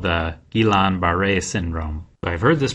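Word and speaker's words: Guillain-Barré: example of an autoimmune poopy is called the gilan baret syndrome I've heard this pronounced a bunch of different ways but I've been told that it's pronounced gilan baret syndrome and these are also some people's names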